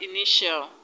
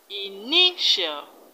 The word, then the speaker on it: initial: second level from the end in the white initial the stress is on knee and eye knee initial initial in the word residential the stress is